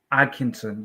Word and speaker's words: Atkinson: Kenny Atkinson. You don't pronounce the T, anyways.